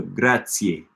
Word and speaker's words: grazie: Remember the Z is like the C in Esperanto. Grazie.